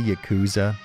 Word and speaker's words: Yakuza: Did you just say Yakuza?